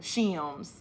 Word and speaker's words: shims: We Northerners say it as one syllable. Shims.